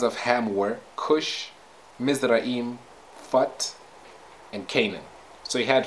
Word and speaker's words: Phut: Phut is also, Phut is spelt like this, P-H-U-T, Phut. Okay, so sometimes this H is omitted, and then it is read as put.